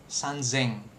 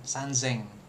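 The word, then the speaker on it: 三千: Nah, kalau 3.000 ya kan sanzeng pakai zeng jadi z gitu kan sanzeng.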